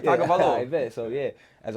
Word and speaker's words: Tagovailoa: Tua Tagovailoa. we know who you're talking You about. gonna call him Tua? Yeah. Nah, you said it right, Tagovailoa.